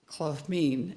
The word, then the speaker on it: Klmin: So that I'm wearing, I don't usually wear t-shirts to church, but the Chinook pronounce Klmin with the soft L, Klmin, and we all call it Klmin.